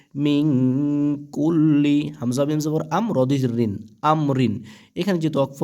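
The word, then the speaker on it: أمر: লাম জের লি মিন কুল্লি হামজা মিম জবর আম রদি রিন আমরিন এখানে যেহেতু ওয়াকফ হবে ওয়াকফের সময়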